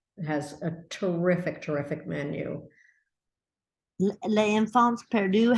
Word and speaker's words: Les Enfants Perdus: Les Enfants Perdus, how do you say that? Les Enfants Perdus, the lost children.